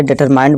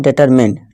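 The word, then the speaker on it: determined: बहुत से लोग हैं, बहुत से बच्चे इसे डिटरमाइंड बोलते हैं, जो कि दोस्तों ये रॉन्ग प्रोनाउंसिएशन है। ठीक है दोस्तों, इसकी करेक्ट प्रोनाउंसिएशन है डिटरमिन्ड। ठीक है दोस्तों, तो आज से आप इसे डिटरमिन्ड पढ़िए।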